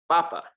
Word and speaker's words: papa: mark now naturally speaking if you don't see an accent mark it's the second to last syllable that's going to get the emphasis so it's papa okay okay but if we see an accent mark we have to shift that emphasis to papa right why does it